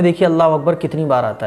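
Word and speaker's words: الله أكبر: अब दोनों को जब आप मिलाएंगे तो हो जाएगा अल्लाहु अकबर। अकबर अकबर, कुछ लोग अकबर नहीं अकबर, अल्लाहु अकबर। तो ये सही प्रोनाउंसिएशन है। अल्लाह अकबर ऐसा नहीं, हमें बोलना है, साफ़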